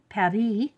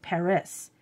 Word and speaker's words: Paris: it's a Paris one par if you say it right in angle English we always pronounce all the letters so we say Paris but in French France